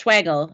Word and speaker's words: Schwagel: do you pronounce it it's schwagel if it helps think that it rhymes with bagel oh well thank you